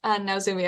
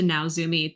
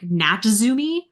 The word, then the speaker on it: Naozumi: when they refer to Naozumi, they pronounce it like Natzumi.